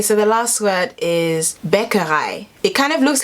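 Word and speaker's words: Bäckerei: english pronunciation okay so the last word is beccarei it kind of looks like bakery or baccarate and that means bakery let's see how google pronounces it becca hi and of course the reason why i learnt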